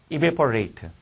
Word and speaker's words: evaporate: 반면에 에이트로 발음이 되면 장음이 되면 동사 전미사가 되는 거지. evaporate. 내가 레이트로 발음하잖아. 거기 발음 끼워도 evaporate로 돼 있네.